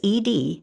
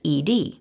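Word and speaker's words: -ed: For example, the suffix ed, which means past tense or already happened, can be pronounced 3 different ways: ud, d, or t.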